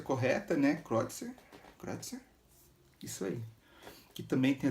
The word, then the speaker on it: Kreutzer: Agradecer ao Filipinho que me ensinou a pronúncia correta, né? Kreutzer.